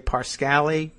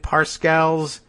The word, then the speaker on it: Parscale: Parscale, I don't know, does he say Parscale? I don't know. That's how it's pronounced. P-A-R, scale, lives and works.